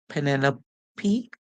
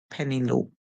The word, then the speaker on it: Penelope: So because it's a name in English, this name is pronounced in these two ways. We can hear Penelope or we can hear Penelope.